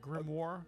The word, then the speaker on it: grimoire: gonna spell like a demon demonic dog okay g-r-i-m-o-i-r-e I'm gonna pronounce it grimoire it's grimoire okay grimoires are usually tend especially